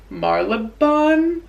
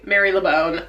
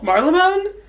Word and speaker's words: Marylebone: Marlebone? I was saying Marylebone. It's just not true. That's just not how you say it at all. Marlebone? Marlebone.